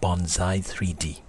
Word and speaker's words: bonzai3d: company's new product called Bonsai 3D yes it's pronounced like those little Japanese miniature trees and I must say